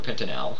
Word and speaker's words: pentanal: So, kind of interesting, but we pronounce it an-al. So this is simply pentanol. Or pentanal, I'm sorry.